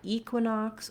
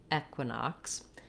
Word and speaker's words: equinox: so we have uh for the q u we have the q sound the e knocks the o x says an clear ah with x k s sound at the end so try equinox or equinox right now it's the solstice